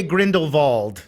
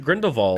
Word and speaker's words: Grindelwald: I went back and watch they do say Grindelwald I guess I should start calling him Grindelwald Grindelwald although and I was reading in the